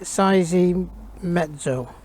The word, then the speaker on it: Seiemmezzo: how to spell it it's how to pronounce it say sizing mezzo and it means six